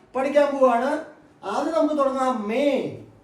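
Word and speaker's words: मैं: പോവുകയാണ് ആദ്യം നമുക്ക് തുടങ്ങാം മേ മേ ഈ വാക്ക് എഴുതിയിരിക്കുന്നത് മെയിം എന്നാണ് നമ്മൾ വായിക്കുക ശരിക്കും മലയാളി വായിക്കാം മെയിം എന്നാണ് അത് എഴുതിവെച്ചിരിക്കുന്നത് പക്ഷേ നമ്മൾ സംസാര ഭാഷയിൽ അങ്ങനെയല്ല ഉപയോഗിക്കുക മേ എന്ന് മാത്രം മേ എന്ന് മാത്രം ഉപയോഗിച്ചാൽ മതി ഞാൻ എന്നാണ് ആ വാക്കിന്റെ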